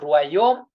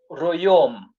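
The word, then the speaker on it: royaume: You see, you cannot say royom.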